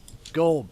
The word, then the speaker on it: gold: go pal gold pal gold pal gold. Notice that he says gold. He doesn't actually really pronounce the d in gold. He kind of goes gold, pal.